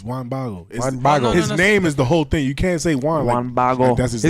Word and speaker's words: Juan Bago: Juan Bago. It sounds like Juan bottle, right? Juan Bago. One bottle.